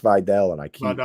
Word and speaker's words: Vidal: I gotta stop say it's it's pronounced Videl. And I keep Vidal. I'm just going to pronounce it the way it is. Vidal.